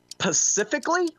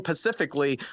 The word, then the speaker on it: specifically: But specifically, really there there's an S there. You have to pronounce the S.